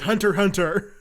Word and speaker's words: Hunter x Hunter: Well, there is, but you don't pronounce the X. You never pronounce the X. It's just Hunter x Hunter.